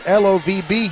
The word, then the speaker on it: LOVB: is leading the charge that's lovb Houston with a silent B catch the action at